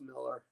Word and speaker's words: Millar: No, I know, I've said Millar, but it's Millar.